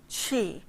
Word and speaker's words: Qi: So, if you haven't tuned in before, Qigong, Qi, the first part of the word is Qi, and you pronounce it as if you were saying cheese, Qi.